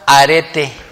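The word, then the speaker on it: ἀρετή: que se que se se pronuncia arete Cuántos conocen un arete todas las mujeres se ponen aretes verdad que sí bueno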